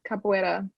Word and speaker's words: capoeira: I don't know, how do you pronounce it, Gabby? The capoeira or? Yeah, capoeira.